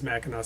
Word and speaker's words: Mackinac: we'll get into why why it's spelled mackinac versus mackinac which is mackinaw city here in a minute